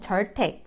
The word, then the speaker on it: Zyrtec: 줘 이거 부터 살펴볼게요 한국에서는 지 주택이라 고르는 데 여기서는 절 택 절 태 기 라고 발음 해요 이 지르 택은 애들